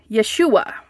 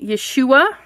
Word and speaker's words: Yeshua: say it wrong yua Yeshua okay Yeshua I think that's how I I listened a couple of times to Google tell me how to say that it's yua Yeshua okay and then the are